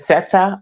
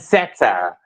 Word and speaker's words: Sette: Seta. A lot of people say that, but it's just basically short for Chrisette. So I just Cassette. took, Okay. yeah, but then I put Uh, set and then more, and then there you go.